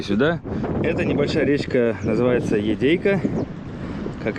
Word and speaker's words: Едяй: Поселок по-русски говорится Едей. Да, а по-якутски пишется Йодей.